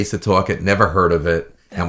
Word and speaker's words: Setauket: Now, how do you pronounce the target? Setauket. S-E-T-A-U-K-E-T.